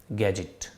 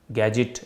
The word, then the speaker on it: gadget: गैजेट, गैजेट इसमें D silent है।